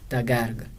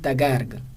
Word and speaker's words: تگرگ: خب اول تگرگ چیه دگرگ تگرگ نمی‌خونیم تلفظش چیه تگرگ تا و کاف گا هر دو زبر دارند خب خشک سالی خشک